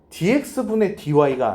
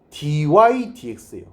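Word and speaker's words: dy/dx: dx분의 dy가 아니에요. dydx예요.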